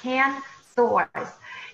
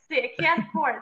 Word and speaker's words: Ken Course: That's Kan Source. And I mean, Course, sorry, Kan Course. I mispronounced your name.